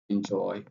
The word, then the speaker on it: enjoy: let me say enjoy enjoy. All right so joy is pronounced louder than the end.